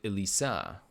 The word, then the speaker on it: Elisa: But it's my niece is spelled with a S, not a Z. So it's actually Elisa.